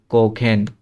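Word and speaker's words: kochen: তারপরে কোখেন, আবার সিএইচ এর আগে ও আছে, এই জন্য খ উচ্চারণ হবে, কোখেন। এখানে দেখি, এখানে হচ্ছে সিএইচ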